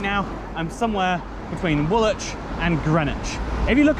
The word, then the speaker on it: Woolwich: now i'm somewhere between woolich and greenwich if you look up how you spell both woolich and greenwich it's very confusing because the w is for some reason not pronounced an even name and